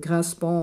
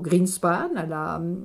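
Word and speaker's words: Grynszpan: de 17 ans, qui s'appelle en effet Grinspan ou Greenspan, si on le prononce à l'allemande, puisque ce jeune homme a été élevé en Allemagne.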